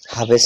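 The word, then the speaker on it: ح: একটা হচছে ছোট হা আরেকটি হল বড় হা। ছোট হার উচ্চারণ হচ্ছে একদম স্বাভাবিকভাবে হা। বড় হার উচ্চারণ হচ্ছে হা। ছোট হার উচ্চারণ গলার শুরু থেকে আসে। হলক মানে গলা। গলার শুরু থেকে আসে। বড় হার উচ্চারণ হচ্ছে হলকের অর্থাৎ গলার মধ্যখান থেকে আসে।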